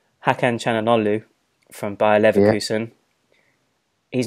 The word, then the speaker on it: Hakan Çalhanoğlu: And by the way, I've done my research to kind of make sure I pronounce this right. Hakan Çalhanoğlu from Bayer Leverkusen.